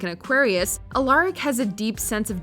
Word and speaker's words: Alaric: history teacher alaric saltman you'll probably want to pronounce it alaric but it's alaric okay so you can